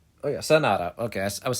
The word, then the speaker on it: Sanada: Is it Sanada or Sarada? Oh yeah, Sanada.